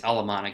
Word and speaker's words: Alemannic: Alemannic is how you say that.